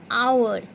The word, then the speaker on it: hour: For example, hour. Here H is silent.